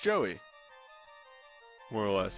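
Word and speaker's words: Jowy: Ryu the friend blue boy his name is pronounced Joey more or less it's like ji Oh Joey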